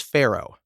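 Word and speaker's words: faro: popular across the country at the time was Pharaoh that's spelled f-a-r-o gameplay in Pharaoh is essentially just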